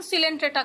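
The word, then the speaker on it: Coelenterata: इसका pronunciation सिलेंट्रेटा करेंगे, ठीक है, ध्यान रखेंगे।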